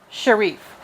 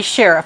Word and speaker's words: Sherif: We have a classic study by Sharif, or it might be Sheriff. I've heard it pronounced both ways by different professors that have taught me.